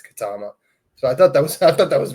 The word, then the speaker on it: Ketema: You wouldn't think that's like pronounced Katama, but they show you that how to pronounce it. It's Katama.